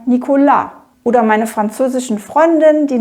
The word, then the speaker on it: Nicolas: in der französischen Sprache da ist ja die Betonung ganz oft am Schluss also sage ich nicht Nikola sondern Nikola oder meine französischen Freundin